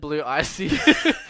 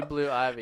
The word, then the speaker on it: Blue Ivy: I said Blue Icy, but it's actually Blue Ivy.